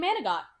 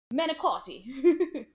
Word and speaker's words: manicotti: But my boss approved it, so I'm off on Friday now, and we're making manigot, so. Or for those that speak proper Italian, manicotti.